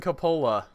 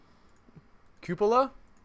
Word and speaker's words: cupola: will this support yeah it's not how you pronounce it cupola yes I I reject